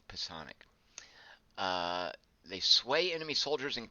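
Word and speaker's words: psionic: kisana CLE gifted individuals i don't know if you guys know that's how you pronounce the word its poisson --ax psi o ni c Poisson ik they sway enemy soldiers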